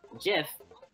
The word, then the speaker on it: GIF: GIF, G-I-F, is the name of something completely different, just so happening to have the same pronunciation.